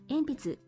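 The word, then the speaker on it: えんぴつ: Enpitsu. All right. That's quite a mouthful. There's four syllables or four characters in Enpitsu. Enpitsu. Oh, that's right. There's no like stress on syllables.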